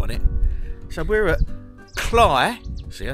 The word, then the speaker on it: Cley: have a video on it so we're at cly see I said it right Marsh's in Norfolk